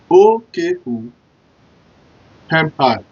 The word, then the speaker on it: Okomi: So the spelling of Okomi is O-K-O-M-I. So sound like Okomi.